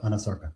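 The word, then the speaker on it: anasarca: No, you're pronouncing correctly. She did have a condition called anosarkca. Can you explain what that is? Anosarca is a condition where the body swells.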